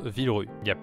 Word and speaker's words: Villerupt: cette petite ville de villerupt peu ça se prononce vivre yap été au bout mais